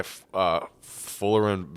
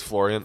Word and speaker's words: Florian: them individually, so we talked about this guy, Fullerin. I think his first name's Fullerin. Balogun. Okay. Florian. It is Florian.